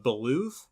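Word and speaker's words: Beoulve: But now it's fully voiced, and we get to watch the adventures of Ramza Beluv, which apparently is how you pronounce that. Belv. Beouf.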